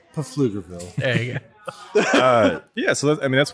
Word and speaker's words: Pflugerville: That's pronounced Pflugerville.